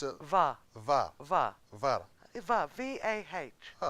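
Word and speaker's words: Vah: How would you pronounce it? It's a VA.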